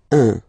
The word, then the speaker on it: un: Okay, then un. All right, so when you combine this u and n, you get the nasal sound un, un.